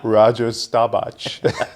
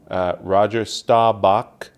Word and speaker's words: Roger Staubach: I believe it's pronounced Roger Staubach.